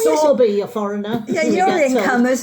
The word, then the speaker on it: Sowerby: We get stick every time we try and pronounce Sowerby Bridge. I know, It's Sowerby, a foreigner.